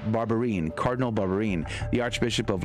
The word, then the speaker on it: Barbarin: request of Cardinal Philip Barbarian, the Archbishop of Lyon. Did I say his name correct? I think I just obliterated his poor name. Cardinal Philippe Barbarin, probably is how you say that. Barbarin, Cardinal Barbarin, the Archbishop